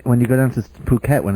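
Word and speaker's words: Phuket: even get to to um tell you about puket which is spelled p p h k t which but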